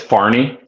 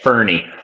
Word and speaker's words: Farney: It's Farney. Farney. Like Swanson Farney, yeah. Okay. I can't even pronounce my own name. I sound like I'm saying it Fernie. Farney. Farney.